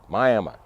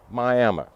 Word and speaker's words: Miami: you heard me right myam m i a m i around here folks like to pronounce the name myam myam your Amma everybody's